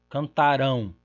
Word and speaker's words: cantarão: cantaram, cantaram, cantaram, cantaram, cantarão, cantarão. Nós temos uma oposição apenas entre paroxítona e oxítona.